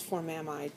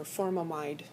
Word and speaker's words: formamide: So then it's formamide or formamide. And here you can really say I've heard it both ways because these are pronounced 2 different ways.